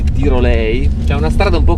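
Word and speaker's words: Dyrhólaey: Una delle cose più belle nei pressi di Vik è un promontorio che dovrebbe pronunciarsi Tirolei.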